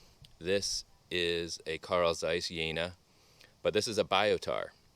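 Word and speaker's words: Jena: amazing this next one is a Carl Zeiss flectagon yena pronounce yena this is German so yena Carl Zeiss yena flectagon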